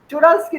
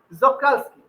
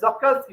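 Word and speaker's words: Czochralski: আছে দেখবে সি এর, জক্রালস্কি উচ্চারণ, সি এর প্রোনাউন্সিয়েশন ওটা সাইলেন্ট থাকে, ঠিক আছে, ওটা জক্রালস্কি, চোরালস্কি নয়। এনিওয়ে ওটা জক্রালস্কি বলে, ঠিক আছে, জক্রালস্কি মেথড।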